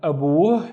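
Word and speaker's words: أبوه: And the first syllable is a, the second syllable is boo, boo. Again, we have the at the end, and abu means his father.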